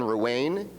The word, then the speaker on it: Ruane: Ruane, he tells me that it rhymes with pain, if that's useful to you, is Professor of Modern History at Christ Church University in Canterbury in the United Kingdom.